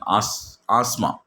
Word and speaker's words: asthma: For example, when we are talking asthma, some people are asthma, in that t h is silent, but some people are pronouncing asthma.